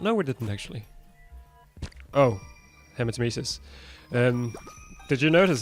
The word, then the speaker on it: hematemesis: Oh, Hematemesis. Did you notice how I actually pronounced that correctly for the first time ever?